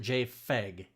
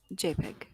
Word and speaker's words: JPEG: Now, is it JPEG or is it JFEG? JPEG. Right. Because pronounced P file.